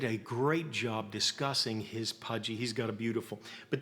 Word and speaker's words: Puje: He is the man that is making the Pudgy right now, and we'll show you as well. It's spelled P-U-J-E, if you can see that.